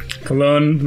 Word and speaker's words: cologne: I can say, cologne rhymes with alone.